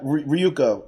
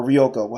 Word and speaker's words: Ryuko: Yeah, so Ryuko is or Ryoko. How do you can say your name one or the other way.